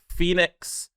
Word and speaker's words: PHNX: It is Phoenix Coyotes Podcast, but it's spelled PHNX.